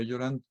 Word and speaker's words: Yolan: voir la proposition de Yolande apparaître, parce que Yolande, on s'est peu rencontrés, on s'est Ah, croisés. je Ouais, me, tu veux pas nous interrompre. En fait, c'est Yolan qu'on prononce.